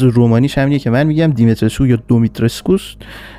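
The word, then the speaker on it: Dimitrescu: و توی این دمو قرار بریم یه سر بزنیم به کاخ دیمیتریسکو، که البته تلفظ اسم دیمیتریسکو ظاهرا یه چیز دیگه است، تلفظ رومانیش همینه که من میگم، دیمیتریسکو یا دومیتریسکوس.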